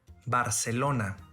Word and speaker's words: Barcelona: in latin america first in spain the letter z is pronounced as th as an english word thing but in all other regions is pronounced as s in spain the letter